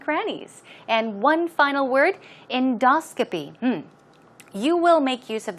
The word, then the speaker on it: endoscopy: Now, pronunciation, stress goes right there on the second syllable. It's endoscopy. Endoscopy.